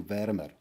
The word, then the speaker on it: wären wir: Now you see that the wären wir gets glued together again, Swiss efficiency, to wären wir. You pronounce it like one word.